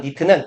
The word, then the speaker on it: knit: 우리가 보통 말하는 니트는 KNIT에서 K가 묵음인 겁니다.